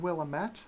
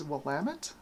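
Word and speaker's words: Willamette: is oh this is I'm going to pronounce this wrong I know it because I call it willamet but I think the actual pronunciation is wamit I think uh I don't I don't know is it is it wamit or willamet I guess I was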